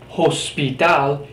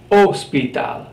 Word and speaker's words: hospital: or k I Gaga is completely silent so it's not hospital it's ospital absolutely no pronunciation of